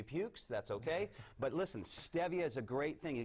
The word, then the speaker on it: stevia: It's called stevia. Contrary, it's not pronounced stevia, it's stevia, but they've got some great things.